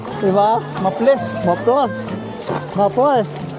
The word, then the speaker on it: Maples: sa intro At least mapless river pa rin to ' ba? Mapless. Mapless. Maplas. Gan yung pronunciation ng mga lokal eh. Maplas.